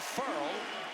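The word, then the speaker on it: Ferrell: Cleland Furl, and he did tell us it's pronounced furl, as in refurl, sent Gillespie backwards.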